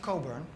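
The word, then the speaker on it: Cockburn: a guy called alistair coburn spelled c-o-c-k burn which for obvious reasons you do not pronounce like that and um he says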